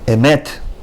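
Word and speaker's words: אֱמֶת: Emet. Emet. The first E is shorter, second E is a little bit longer.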